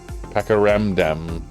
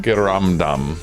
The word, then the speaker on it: pakiramdam: Pakiramdam. Pakaramdam. No, you said it correct. Pakaramdam. No, you said it right for the first time. Pakiramdam. There you go.